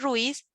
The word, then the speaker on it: Ruiz: de ruiz profe bueno ruiz tiene otra constitución en cuanto a las vocales fíjate nomás ruiz ruiz porque no es guiado porque es un diptongo entonces ruiz sí que se pronuncia en una sola sílaba ruiz no hay ninguna